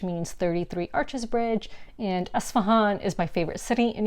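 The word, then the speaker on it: Isfahan: from uh trade like ispahan which actually the way it's spelt it's actually supposed to be asvan so esfahan is a city in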